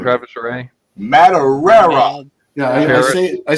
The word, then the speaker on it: Madureira: Later, you know, of course, Campbell and you know, Maduria and who else? I never say his name right. Travis Ray. Madureira.